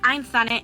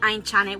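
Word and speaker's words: Aintzane: So we decided to just keep it like Ainza instead of Ainchane, which is the way that my name should be pronounced.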